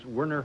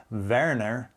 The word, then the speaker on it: Werner: a little research because some people pronounce wner and some people uh say verer I actually think that's the correct uh German pronunciation but I could be wrong and probably only verer